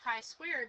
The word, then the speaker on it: chi-square: with a long I swear okay and it's pronounced chi-square because it has the symbol that looks like